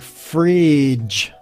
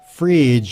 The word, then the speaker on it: fridge: and say it like fridge fridge the DG pronounces basically a j sound fridge fridge well that's